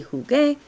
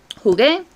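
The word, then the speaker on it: jugué: vowel hard sounding consonant so it wouldn't be huge it would be that sounds kind of silly so we need to add an extra u to strengthen that sound so the u strengthens the g and brings it together every g needs you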